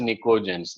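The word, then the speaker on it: pnictogens: But P is silent. Spelling wise, it is pinicogens, but pronunciation wise, it is nicogens.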